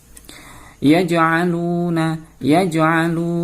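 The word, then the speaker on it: يجعلون: Yaj'aluna. Bacaan qalqalah. Kenapa? Ada huruf jim berharokat sukun.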